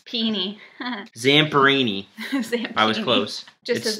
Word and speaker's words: Zamperini: true story oh boat Lou how do you pronounce his last name zampini py Zamperini I was close just his life story yeah